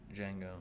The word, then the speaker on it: Django: I don't know, Django, It's Django. but I didn't say the D. The D is silent.